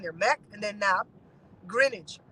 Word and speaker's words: Greenwich: Greenwich. Grin like when you're smiling, age like when you're old.